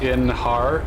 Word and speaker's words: Einhar: And ours is pronounced Inhar. I just forget his name. It's just, he's really cool and stuff, but I just forget his name all the time. Einhar.